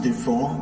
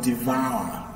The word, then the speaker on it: devour: This is pronounced ah, just like your ah, okay? Ah. So, this is not pronounced devour, but devour, okay?